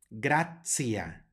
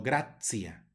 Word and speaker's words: gratia: tienen pronunciación especial aquí tenemos la primera con una t seguida de una I y una a ya sabemos que se pronuncia la t como una ts gracias no gracia sino gratia luego tenemos una J